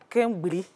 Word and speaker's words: kengbri: qu'on appelle kengbri. C'est comme ça qu'on prononce, chef.